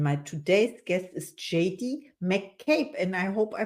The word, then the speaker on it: McCabe: is Caroline and my today's guest is JD mape and I hope I pronounce it right hello and welcome to the